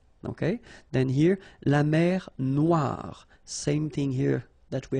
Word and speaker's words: noire: Then here, la mer Noire. Same thing here. That we had previously, final not pronounced, okay? And then OI, remember, wa wa wa, noir, noir. La mer noire, okay?